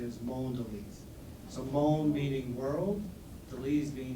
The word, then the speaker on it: Mondelēz: were talking a little bit about the proper pronunciation of mondones and um he informed me that that is